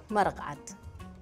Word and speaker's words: Maraq: Maraqat.